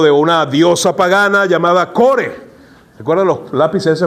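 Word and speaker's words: Kore: ¿Recuerdan los lápices de ese man Cores? No, en serio, hermano. Todo tiene que ver con eso. Así, tal cual como se escribe, así era la diosa pagana Core, con K-O-R-E.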